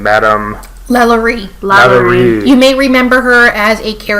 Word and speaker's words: LaLaurie: Now, I always forget how to pronounce her name, Madame... Lalaurie.